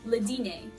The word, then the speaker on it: dîner: So we have le dîner. Sometimes you pronounce R's in French, sometimes you don't. But in this case, we don't. Le dîner.